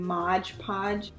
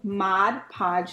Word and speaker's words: Mod Podge: also I noticed that I've been saying modge podge I just been staying it like that and I'm like oh my god that is not how you say it so Mod Podge sorry I know somebody's